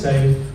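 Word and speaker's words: Saif: So I said, yeah, name is safe, pronounced S-A-I-F, spelled S-A-I-F, pronounced S-A-F-E, and it's always safe to talk to safe.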